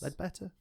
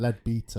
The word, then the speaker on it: Ledbetter: Ledbetter? Yeah, Ledbetter. Better than my pronunciation. Yeah, which is Leadbeater.